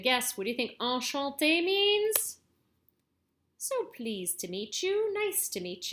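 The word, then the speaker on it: enchanté: kind of remember but whenever you see this e with the accent that goes like this what's called a goo you don't have to worry about that now it's pronounced like the letter a so enchante that's where you hear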